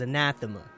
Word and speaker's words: anathema: good okay all right the correct pronunciation of the word is anathema alright and an anthem